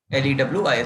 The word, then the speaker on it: Lewis: Is it Lewis or Leouis? is LWIS LEWIS Lewis. Acid accept their electron due to incomplete octet.